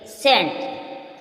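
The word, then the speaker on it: scent: आर साइलेंट इसमें देखेंगे सेंट सेंट एस सी ई एन टी सेंट य क्या है सी साइलेंट क्या है सी साइलेंट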